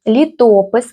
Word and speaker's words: літопис: Літопис, вимовляємо о лопух вимовляємо о наближене до у.